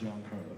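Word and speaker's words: Giancarlo: Tell me the correct pronunciation. It's John Carlo.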